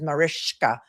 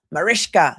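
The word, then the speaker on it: Mariska: She made it very clear that her the proper pronunciation of her first name is Marishka. Marishka.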